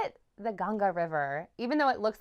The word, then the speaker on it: Ganga: They call it the Ganga River, even though it looks like it's spelled the Ganges.